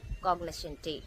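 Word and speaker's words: cognoscenti: ரெண்டுத்துக்குமே same pronunciation தான் கிட்டத்தட்ட பட் ஸ்லைட் வேரியேஷன் இருக்கு. இந்த ஸ்லைட் வேரியேஷன் என்ன அப்படின்னா கொஞ்சம் எலாங்கேட் பண்ணனும். இந்த பப்ளூரல்ல இருக்கக்கூடிய அந்த ஐ சவுண்டுக்காக காக்னிஷன்டி அப்படின்றது கொஞ்சம்தான் எலாங்கேட் ஆகும்.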